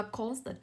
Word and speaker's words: constant: Ý B cô sẽ có từ đọc là constant, âm thứ hai của cô là ơ. Vậy trọng âm không rơi vào ơ, nó rơi vào âm tiết đầu.